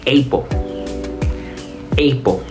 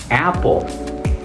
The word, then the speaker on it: apple: de lo que hablamos la pronunciación Debería ser eo Apo Pero si ya saben un poco de inglés sabrán que la pronunciación en realidad es Apple Apple Por qué es diferente